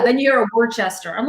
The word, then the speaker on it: Worcester: I had a couple of emails saying, hey, lady, it's Worcester. All right, that's how you pronounce it, Worcester. Then you're a Worcester.